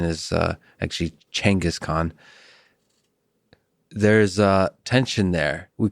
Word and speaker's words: Genghis Khan: I've most of my life said Genghis Khan but uh the right pronunciation is uh actually Genghis Khan.